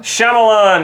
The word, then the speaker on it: Shyamalan: How do you pronounce his name? I always get it wrong. Shyamalan.